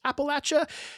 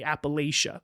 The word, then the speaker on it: Appalachia: from what I understand there truly is no perfectly correct way to pronounce Appalachia as it changes from region to region from what I gather the core quote unquote of Appalachia uses the latch pronunciation while more of the outlying regions use that Lei Appalachia pronunciation the territory itself Appalachia isn't even fully agreed upon in